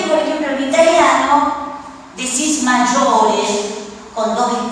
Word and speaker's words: maggiore: Igual la I está para que se pueda pronunciar el sonido J, porque si no sería Sí, magore.